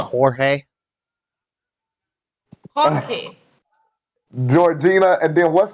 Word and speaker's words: Jorge: In Mexican, it's pronounced Jorge.